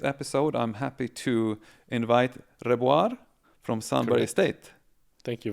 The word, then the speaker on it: Rebuar: It depends which language The Germans call me Rebuar. My parents call me Rebuar with the rolled R, and the English say Rebuar.